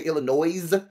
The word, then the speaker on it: Illinois: me guess you um say Illinois to enunciating the S not knowing that it's silent because you give me